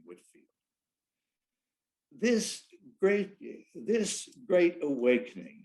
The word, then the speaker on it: Whitefield: wesley and george whitfield george whitefield i'd like to pronounce his name whitfield this great this great